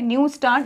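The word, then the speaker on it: Neustadt: न्यू स्टार्ट ठीक है टी वैसे साइलेंट है न्यू स्टार्ट इंटरनेशनल प्राइज अब य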